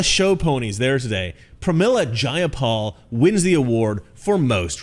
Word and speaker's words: Jayapal: takeover it was just jaya paul if you're going to say my name please say it right it's jayapal jayapal clearly these democrats